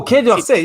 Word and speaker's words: Quai d'Orsay: I think it's Quai d'Orsay. You know how to say it better than me. Oh, Quai d'Orsay.